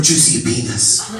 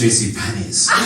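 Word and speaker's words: JCPenney: i are looking for juicy penis it's very big in america oh my auntie it's pronounced jc pennies this table had to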